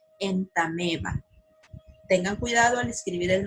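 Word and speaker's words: Entamoeba: ejemplo se escribe en está nueva pero se pronuncia en tame va si ustedes recuerdan los nombres científicos se escriben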